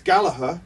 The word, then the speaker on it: Gallagher: Uh does it bother you when people do you does your mother are you Galaher? Gala like Well, it it's Galaher. Yeah. But as we were Manunians, Manunians always pronounce it hard G.